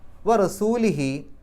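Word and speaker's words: رَسُولِهِ: എന്നായതുകൊണ്ട് റസൂലി എന്നേ വരുകയുള്ളൂ റസൂലി എന്നുള്ളതിന്റെ കൂടെ ഹി എന്നേ ചേരൂ ഹു എന്ന് ചേരൂല അപ്പൊ എന്തുകൊണ്ട് റസൂലി എന്ന്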